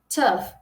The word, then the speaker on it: tough: Tough, tough. não pronunciamos, tipo, você vê isso aqui, você fala tough, né? Não. Esse GH em inglês, ele vai ter um som de F, isso aqui é um pouquinho mais fácil, ó.